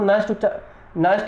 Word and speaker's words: Nernst: तो सिंपल सा ध्यान रखो, नस्ट समीकरण होती है, आप इसको नस्ट इक्वेशन उच्चारण कर सकते हो, एन साइलेंट रख सकते हो।